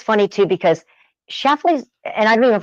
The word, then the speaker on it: Schlafly: of town, they're always like, how do you pronounce the name? It's a tongue twister a little bit. Schlaf and Schlaf. Exactly. Schlafly. Exactly. I know it sounded really weird. Schlafly.